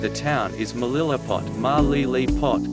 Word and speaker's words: Malilipot: town is Melilla pot ma Lele pot back centered on the third syllable Capitan Capitan is located